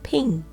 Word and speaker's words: PNG: their knees when threatened the creators of PNG wanted it to be pronounced as ping the only 15 letter